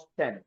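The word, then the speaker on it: often: natural উদি হচ্ছে কি ইংলিশের উচ্চারণটা দুইটা হয় ওফেন অর অফ অফটেন অফেন অথবা কি অফটেন দুইটি হচ্ছেন আমেরিকান ব্রিটিশ সো আরেকটা ইংরেজি বলে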